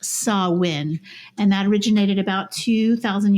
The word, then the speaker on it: Samhain: uh sawin which is it looks like it's Sam hay but it's pronounced saw win and that originated about